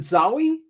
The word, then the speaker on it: Zowie: Have I been pronouncing it wrong? Is it Zowie? You've been saying it right.